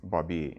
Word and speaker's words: Baby: it is spelled b a y but it's pronounced Bobby and if you were ever over in bbby point it's not baby Point um and um his older brother jacqu